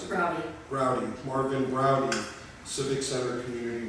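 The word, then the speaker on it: Braude: That's at the Marvin Broad Civic Center in Van Nuys. How do you pronounce it? Browdy.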